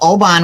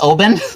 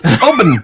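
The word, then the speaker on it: Oban: you have a favorite but I like the Obon which I finally learned is supposed to be pronounced open open I've been wrong this whole time yeah 14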